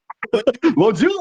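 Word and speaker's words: bonjour: ako opo kita ka br joe bonzu bonjuzu pala tama ba kamusta pa brother paano po ba ang pronunciation nonju bonz bonju bonju bonju wala art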